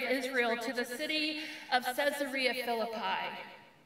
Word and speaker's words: Caesarea Philippi: to the city of caesarea philippi when i pronounce it that way it may not seem to have much significance but what if i pronounced it caesar rhea philippi a couple of centuries